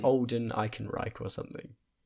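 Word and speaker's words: Ehrenreich: Is it not like olden Icon Reich or something? Yeah, it's Alden Ionic Rake.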